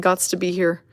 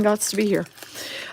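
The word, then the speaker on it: Gostisbehere: can't not say it Shane gots to be here that's how we pronounce his name Shane gots to be here uh yeah so anyway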